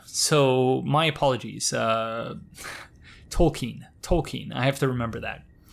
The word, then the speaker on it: Tolkien: it Tolkien, but I was told that the pronunciation was Tolkien. So my apologies. Tolkien.